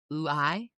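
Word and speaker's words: οὐαί: B, alas, because the Greek word for alas, sometimes transliterated as either O-U-A-I or A-I, but it's pronounced oo-I.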